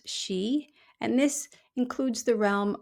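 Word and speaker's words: sidhe: So in the in our in the Celtic culture, there's the she spelled s i d h e, but pronounced she.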